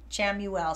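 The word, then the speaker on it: Chamuel: Go ahead and spell that out, too. S-E-P-H-A-R, Shamuel, C-H-A-M-U-E-L.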